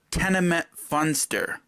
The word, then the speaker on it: Tenement Funster: of Queen knows that Trek 3 is called tenement funster what did the desert on say Trek 3 was tenement buster tenement flustered you this